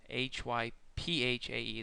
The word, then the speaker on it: hyphae: Hyphae, that's pronounced hyphae, and each hypha is only one cell thick.